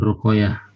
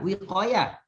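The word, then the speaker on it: وقاية: Nun ruqayah. Bukan ruqayah, wiqayah.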